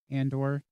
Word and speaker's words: Andor: Andor.